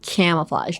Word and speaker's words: camouflage: your lower jaw, like camouflage. Don't, like, Botox all up here, okay? Do not use this part, okay? Silence, right here. Just use your lower jaw, like camouflage.